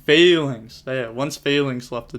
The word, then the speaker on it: Phalanx: Everyone forgot that once Phoenix, or am I saying it right? Phoenix? I feel like that's wrong. Phalanx.